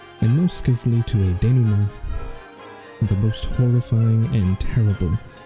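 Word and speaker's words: dénouement: quick there it is can I hear it danu Ma danu Ma that was not a pronunciation I was expecting I have actually heard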